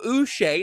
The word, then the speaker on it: Uche: acquired former New England Patriots pass rusher Joshua us now he himself did request to be called Joshua and noted that it's pronounced Us seths in timeout so before we